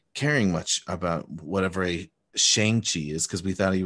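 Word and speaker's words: Shang-Chi: much about whatever a shang chi is because we thought he was a we thought the pronunciation was shang chi and it wasn't until this we learned it's shangchi and i loved this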